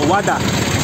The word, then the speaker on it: Vada: yung ating Wada ah Ang spelling niya Vada pero It's pronounce sa Wada saka yung ating crispy